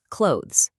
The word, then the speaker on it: clothes: Clothes is a funny one. It sounds almost like the word close, but you add the soft sound at the end.